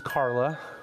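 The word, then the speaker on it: Karlya: Um, so her name is Carla, but with like a k a r l y a strange spelling to it. Um, the y is silent.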